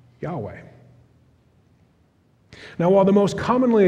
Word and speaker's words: Yahweh: And so the most commonly supplied vowels are an A after the Y and an E between the W and H, which usually leads to the pronunciation of Yahweh.